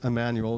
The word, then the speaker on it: Jmmanuel: go into here, but we just pronounce it Emmanuel as if it were spelled with an I or an E.